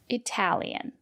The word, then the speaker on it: Italian: If the letter T is between vowels or a vowel, R, T, and a vowel, and the syllable is stressed, we pronounce the letter T as T. For example, Italian.